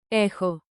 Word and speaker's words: έχω: have echun Pro tip pronounce chi like a soft KH. Forms with rhythm. Clap lightly and say it with me. Rhythm makes memory sticky. echo I have